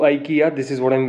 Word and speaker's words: IKEA: The right pronunciation of IKEA is IKEA.